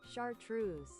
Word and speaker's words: chartreuse: Chartreuse. Oh, I actually said it right. It's chartreuse. Chartreuse is right.